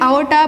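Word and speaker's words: aorta: Pronunciate करते हैं आओर्टा, बट इसकी स्पेलिंग लिखते हैं अरोटा, ठीक है।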